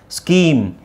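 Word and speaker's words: scheme: confuse ಮಾಡ್ಕೋಬಾರದು ಅನ್ನೋ ಕಾರಣಕ್ಕೋಸ್ಕರ ಇಲ್ಲಿ ಸಿ ಎಚ್ ಸೌಂಡ್ ಏನಾಗುತ್ತೆ ಕ್ ಆಗುತ್ತೆ ವಿಚ್ ಮೀನ್ಸ್ ಸ್ಕೀಮ್ ಇದು ಸ್ಕೂಲ್ ಇದು ಸ್ಟಮಕ್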